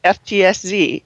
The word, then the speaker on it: FtsZ: Would that be Fitzy? Well, I asked two of my colleagues how it's pronounced, and one of them said, I always hear FTSZ, and I thought it should be Fitzy, but okay.